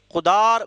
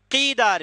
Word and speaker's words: قدار: اس کے تعلق سے مفسرین کہتے ہیں یہ قدار بن سالف ہے، قیدار بن سالف بھی اس کا ایک تلفظ آیا ہے، یعنی یہ وہ آدمی